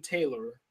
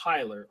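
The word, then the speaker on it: Tylor: finally chose the irresponsible Captain Taylor pronounced Tyler Oh Captain Tyler all right one of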